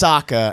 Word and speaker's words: Sokka: you say yeah well the movie mispronounces them that's one of the big okay no you're fine the movie taught you wrong chords no it's it's Sokka and Katara's look at this education